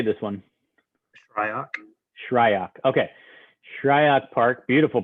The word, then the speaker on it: Shryock: Shryock.